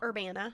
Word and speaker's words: Urbana: And here's this American Missouri, guy from up around, or is it pronounced Urbana? Urbana.